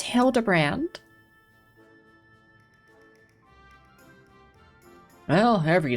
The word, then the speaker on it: Hildebrand: It's pronounced Hildebrand.